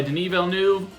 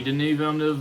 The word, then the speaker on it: Villeneuve: It's directed by Denis Villeneuve, which I think is the right pronunciation. A lot of people get it wrong. Don't do that.